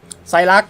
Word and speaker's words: Saileach: พระ ประ ดู ใส่ รัด กัน นะ ครับ อ่าน ว่า ใส่ รัก จริง ๆ นะ ครับ เป็น ภาษา ไอสแลนด์ นะ ครับ แปล ว่า ต้น